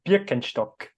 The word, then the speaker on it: Birkenstock: So it's Birkenstock in Ash.